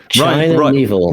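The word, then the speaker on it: Miéville: China Mieville. Rhymes with Knievel.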